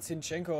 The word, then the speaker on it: Zinchenko: Nicht Zienko, sondern Zinchenko ausgesprochen. Ja, ich weiß, aber kann ich nicht leiden, Digga.